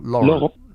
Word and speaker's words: Laurent: Is it Laurent or Laurent? Laurent. Ah, you roll your R's.